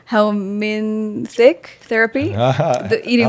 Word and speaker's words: helminth: I was like, helminthic therapy, the eating Helminth worms. Therapy. How do you say it? Helminth therapy. Helminth therapy. There's a Helminth with a TH.